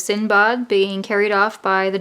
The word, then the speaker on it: Sindbad: the Arabian Nights and it Sinbad or the proper pronunciation which is sin bug being carried off by